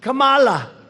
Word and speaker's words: Kamala: tried to interrupt him no my name was kamala like comma i remember that like a comma right h1n1 that's right